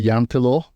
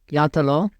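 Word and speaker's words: Jante: so in Norway there's a thing called the yant law yant law y Law yeah yeah uh it means that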